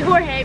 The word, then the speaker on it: Jorge: And Logan was talking to the cashier, his name was spelled with a J, and he kept calling him George when his name was clearly Jorge because J. makes H noise.